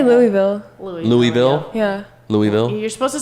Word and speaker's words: Louisville: say it Cookville or Louisville or Oh, I say Louisville. Louisville. Yeah. Louisville. You're supposed to say it. I think Lindy told me one time you're supposed to say it like you have marbles in your mouth.